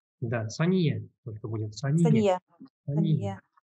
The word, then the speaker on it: Сания: Сания. В татарском языке у нас ударение практически всегда падает на последний слог.